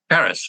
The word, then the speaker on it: Karas: You wrote about your mentor in the book, and his name was, I'm going to guess on the pronunciation, Karas? Karas, yes, terrific.